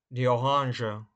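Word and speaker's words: Orange: слово ананас ананас ананас апельсин дганже дганже слово іншомовного походження тому вимовляється не за правилами німецького мова мови мандарині мандагина мандагина лимоннене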